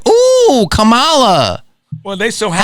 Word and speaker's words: Kamala: here for 3 weeks and everyone's like, ooh, Kamala. Well, they so happy. How do you say her name? You know why? How do you say her name? You're right. You said it right. Is it Kamala?